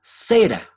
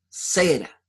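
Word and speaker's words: זרע: Bueno, la palabra semilla en el original hebreo se escribe y se pronuncia cera, con Z, cera.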